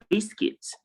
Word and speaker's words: biscuit: is pronounced puppet, and for E also is pronounced biscuit, and for A is pronounced lettuce.